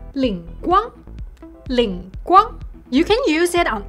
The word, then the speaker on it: 灵光: 灵光灵光 It means divine light. But in Shanghainese, it's pronounced as 灵光灵光 You can use it on almost everything.